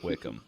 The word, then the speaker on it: Wycombe: you a heads up wickham is not spelled how you think it's spelled how was the spell tanner w-y-c-o-m-b spelled wycombe but they say wickham because by the way